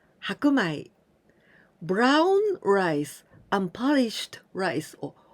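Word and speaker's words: 白米: We add this kanji of shiro, white, the color white, and in this case we pronounce hakumai, hakumai.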